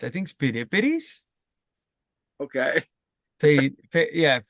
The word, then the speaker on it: Pheidippides: Phidippididis. I mean, to be fair, it is it, it's if I just if, I can see the pronunciation, but it's I think Spidippides, Okay. yeah, Pheidippides.